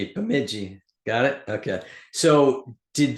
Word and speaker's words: Bemidji: Which again, everybody, sorry, just I can't pronounce it, so I'm not gonna. So It's an Indian reservation, so Bemidji. Bemidji.